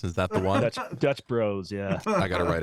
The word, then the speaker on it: Dutch Bros: Super Mario Brothers is pron it should be pronounced Brothers but Dutch Brothers sounds worse than Dutch Bros anyway and they spell it Bros bros it